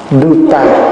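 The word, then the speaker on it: dhūta: đúng cái chữ á Chúng ta đọc là dut ta duta là tiếng Phạn rồi mình âm cái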